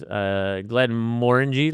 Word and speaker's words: Glenmorangie: So this is the Glenmorangie, one of my favorite whiskies, Glenmorangie, like orangey is how I was taught to remember how to pronounce this whisky, not Glenmorangie, as most Americans would say.